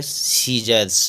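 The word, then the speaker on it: scissors: आर एस तो इसमें एस के बाद सी आया हुआ है तो उसको सी साइलेंट मानेंगे तो इसको पढ़ेंगे सीजर्स अगला है डी आई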